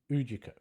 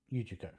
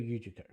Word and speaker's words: Ujiko: her, that is very Ujiko. Ujiko. I had the wrong syllable there. Yeah, that is very Ujiko.